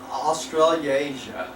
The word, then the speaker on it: Australasia: How do you pronounce that? Australasia.